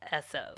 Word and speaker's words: Esso: And the only other thing I had written down is that the phonetic pronunciation of Standard Oil, S-O. Right. And then it's spelled E-S-S-O, which caught I was like, okay.